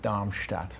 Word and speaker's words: Darmstadt: I was complimented on random kind of compliments about how I was complimented by Mia on my pronunciation of Darmstadt last week.